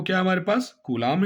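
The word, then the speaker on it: coulomb: पास कूलाम ध्यान देंगे सीओ य एओ एम बी कलाम की स्पेलिंग में बी आता है लेकिन हम एक्चुअली जब हम पढ़ते हैं तो इसे हम पढ़ते हैं कूलाम ओके हम इसे पढ़ते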